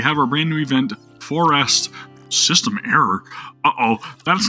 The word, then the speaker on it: For Rest: Yeah, that's right, For Rest, not Forest.